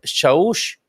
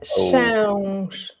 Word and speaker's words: Chãos: Would this be Chaus? No, that's Chãos. Oh, that's a hard one to pronounce. Yeah, exactly. That's like if you have almost a U, N, and then almost a G at the end, like But you don't